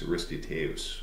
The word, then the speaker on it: Aristotle: Your second ancient is a guy by the name of Aristotle, or if you're particular about pronunciations, Aristoteus, right, is more accurately how it is pronounced.